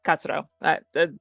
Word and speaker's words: Katsuro: Do you want to spell it out? I can. Uh Katsuro Hane? Wait. Okay, say it again. Yeah, Katsuro.